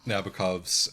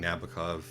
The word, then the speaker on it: Nabokov: do anything although um they all all of nabokov's uh all of nabokov's uh uh iterations in